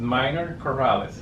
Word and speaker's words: Mynor Corrales: I said that right, Mynor Corrales? Yes, Mynor. I pronounce it Mynor Corrales. Yeah. Corrales.